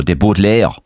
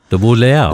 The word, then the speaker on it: Butler: And if you pronounce the name properly, and you're from Waterford, you go De Butler. De Butler.